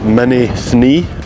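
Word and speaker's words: Mînî Thnî: I'll put it on the screen so you can see what it looks like, but I asked some people here and that is how they pronounced it, Mini Thni.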